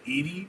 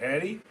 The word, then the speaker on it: Edie: It's like saying edy but like when you spell it and people say it at restaurants are like Eddie.